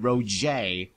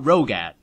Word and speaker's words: Roget: Okay, so that's how you pronounce it, Roget, not Rogat.